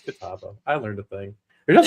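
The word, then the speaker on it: Catawba: When I when I first moved to Charlotte, there's a there's a uh there's a river called Kataba. Uh c a t- wab a kataba. Well, I pronounced it katawaba.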